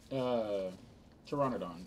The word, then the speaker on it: Pteranodon: Pteranodon. It's P-T-E... Hold on, let me look it up. P-T? Yeah. The P is silent.